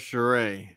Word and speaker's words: Charest: And just so we know, it's Travis Charest. And it's Travis Charest, not Travis Charest.